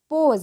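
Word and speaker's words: pose: है सांप ठीक है पी ओ एस ई पोज देखिए स है लास्ट में तो इसका उच्चारण हो जाएगा ज के रूप में पोज ज के रूप में उच्चारण हुई यहां देखिए पी ओ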